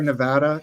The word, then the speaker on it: Nevada: them all have any herbal Delights freaking Sierra Nevada now I am unfortunately not allowed oh yeah